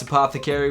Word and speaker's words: APTHCRY: And although it's pronounced Apothecary, we actually shortened it to Ath Cry Y because we thought it looked cool.